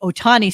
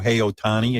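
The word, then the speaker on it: Ohtani: would love to talk about which is the Otani story so this this not be good so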